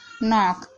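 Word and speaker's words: knock: एन से पहले आया के साइलेंट रहता है, यानी एन से पहले अगर के आएगा तो के साइलेंट रहेगा।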